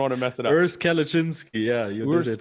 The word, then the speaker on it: Urs Kalecinski: Urs Kalecinski.